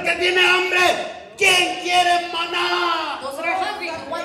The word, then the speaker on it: maná: ¿Quién quiere maná? Con acento en la A.